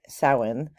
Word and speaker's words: Samhain: from announce no matter how it's spelled it's pronounced sawen is the uh cultural um backdrop like the